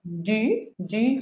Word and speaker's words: du: Recuerden que para pronunciar la U en francés tienen que hacer la boca como si fueran a decir una U, pero el sonido que sale es el de una I, I.